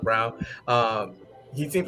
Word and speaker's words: Braun: so party wesley um christian brown fell braun but christian brown like he's pronounced brown um he seems like